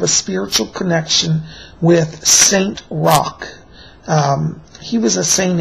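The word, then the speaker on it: Roch: you do have a spiritual connection with st Rock um he was a saint in France the name is spelled r c h or some people spell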